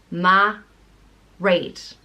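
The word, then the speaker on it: Mairéad: name is great and it means pearl and it's pronounced mah rate right it's usually spelt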